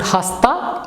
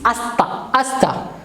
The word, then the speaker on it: hasta: Again, H is silent here. It is not hasta, it is hasta.